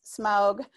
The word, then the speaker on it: SMAUG: the smaug collaboration so we pronounce this smog in honor of the dragon in tolkien and i will give